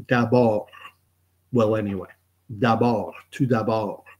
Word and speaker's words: d'abord: You might know some French words like d'abord. Well, anyway, d'abord, tout d'abord. But it's got a D at the end. You don't pronounce it.